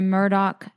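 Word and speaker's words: Murdaugh: a podcast called the Murdoch family murders no hold on a second but not the Murdoch like rubert Murdoch no it's spelled like mdal okay just so people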